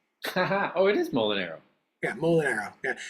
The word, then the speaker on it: Molinaro: mean you can say I always say it rhymes with bow and arrow oh it is mol and arrow yeah mol and arrow